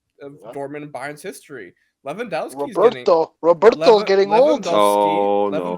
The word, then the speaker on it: Lewandowski: Lewandowski's Roberto's getting old. Oh, no. Lewandowski, that's how you Liam.